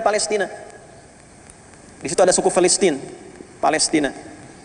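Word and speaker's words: فلسطين: Pakai bahasa Arab pakai F, Filistin. Makanya di ejaan-ejaan lama itu F-nya masih ada, Filistin, Filistin. Tuh, F. Ya, cuman nanti ke kita pakai P berubah, ya, jadi Palestina, atau di ejaan sekarang jadi Palestine.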